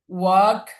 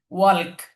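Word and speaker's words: walk: I will ওয়াক some time, এখানে খেয়াল করবেন ওয়াল্ক, আমরা যদি বানান করতে যাই তাহলে কিন্তু এই যে এল আছে সেই হিসেবে ওয়াল্ক বানান হয়, কিন্তু এটা ওয়াল্ক। যদিও লেখার ক্ষেত্রে এল আসবে কিন্তু উচ্চারণের ক্ষেত্রে ওয়াক হবে।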